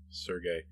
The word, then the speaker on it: Serge: dad but that's not Serge's fault or Sergey uh we have that name here locally and we pronounce it Serge uh I don't know